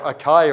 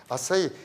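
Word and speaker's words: açaí: we also sell what we call acai as I say or acai or shy it's often pronounced I say that's lots of antioxidants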